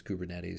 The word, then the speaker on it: Kubernetes: in general but again nobody pronounces it that way at least not in the kubernetes community and the founders of kubernetes pronounce it as kubernetes so just be aware